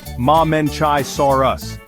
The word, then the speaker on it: Mamenchisaurus: Here's the Mamenchisaurus, pronounced Mamenchisaurus.